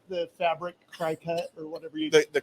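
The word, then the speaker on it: Cricut: Doesn't she have like the fabric cricket or whatever you? The cricket. Cricket. Yeah. It's pronounced like a little bug, but it's not spelled like a little bug.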